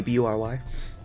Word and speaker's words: Bury: Bury, B-U-R-Y. Read it as Bury. And then people around me are like, oh, it's pronounced Barry. And I'm like, no. No, it's not. Maybe you pronounce it Barry. But I am not limited to your pronunciation of things.